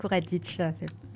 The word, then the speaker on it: Radic: j'ai le plaisir d'être en compagnie de margaot Radic c'est comme ça que ça se prononce oui Radic Radic et Eva Baptista bonjour Eva bonjour alors vous